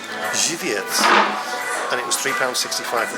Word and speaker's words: Żywiec: I thought it's pronounced Zwajek. It's actually pronounced Żywiec.